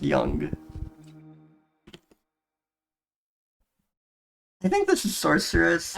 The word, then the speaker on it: Yonge: for my name and it is just pronounced young I think this is